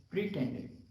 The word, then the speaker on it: pretending: It's pretending. Pretending. Pre. So whenever you get a word which starts with P-R-E, just pronounce it as pre instead of per. It's not per, it's pre.